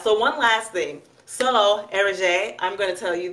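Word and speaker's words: Eriza: That was EJ, spelled E-R-I-Z-A, pronounced Erige. I think I actually said it right, Erige.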